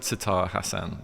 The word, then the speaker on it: Sattar Hasan: name correctly but it's it's s satar Hassan that's what I go by yeah why is that